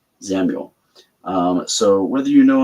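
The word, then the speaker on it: Xamul: Uh that is spelled X A M U L Samuel.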